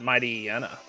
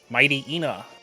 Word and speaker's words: Mightyena: Yeah, that's what people say. It's hyena. Mighty and hyena.